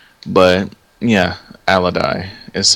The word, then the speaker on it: Alodi: Al Loi right yeah although I had always pronounced it a Loi but yeah alady is how that's how they pronounced it okay good and for anyone wondering alodi was a half Elven Mage and was the